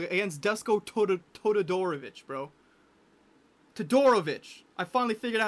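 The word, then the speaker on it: Todorović: Toadorovich. I finally figured out how to say his name. Toadorovich.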